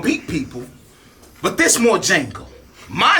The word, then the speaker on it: Django: Or, like, Django, you don't say D because the D in Django is silent.